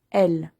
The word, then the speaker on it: elles: Elles. Les autres, elles. Au pluriel. Eux, attention, je prononce pas le X. Eux. Elles. Je prononce pas le S.